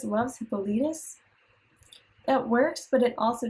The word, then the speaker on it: Hippolytus: So the problem with this is that researching it, Hippolyte in English is Hippolytus, which is 4 syllables.